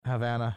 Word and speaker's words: Havana: said it like that i don't know don't worry havana havana i'm not sorry i pronounce it yeah that's i understand that's how you say it okay good he continued